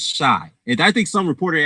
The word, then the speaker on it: Chi: And then he pronounced it she. And I was like, nah, it's not pronounced she, it's shy.